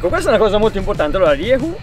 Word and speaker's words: Rieju: cosa molto importante allora rievo si pronuncia così come ho detto io Rieu è una casa spagnola quindi la pronuncia effettivamente non è delle più semplici mi parlavi anche di